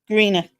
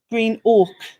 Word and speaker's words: Greenock: When it's Greenock. Green oak. But do you? Because you don't pronounce it as oak, do you? Like in your Scottish accent, it comes out as ock.